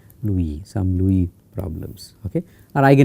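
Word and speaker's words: Liouville: me write it because the spellings are pronunciations are different stom problems okay I think there is an u also l i o u v i l Louie some Louie problems okay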